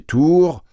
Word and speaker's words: Tur: Tur, prononcé tour, tour et sourd, même mot, n'est-ce pas?